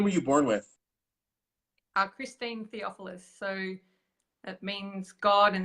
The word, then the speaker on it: Theophilus: Theophilus. Theophilus.